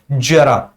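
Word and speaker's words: ज़रा: जो उच्चारण करोगे आप इसका उच्चारण ऐसे होगा जरा जे के साथ इसका उच्चारण होगा जरा और इसका जो उच्चारण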